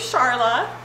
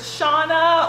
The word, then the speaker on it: Sharla: my name okay so my name's sharla and i think i do an okay job of pronouncing that but for some reason like it's one of those like flashbacks to like dances when i was a teenager and it's loud and the boy's asking what's your name and so i'm trying to say my name and he hears shauna or charlotte or something that's not sharla and then it's just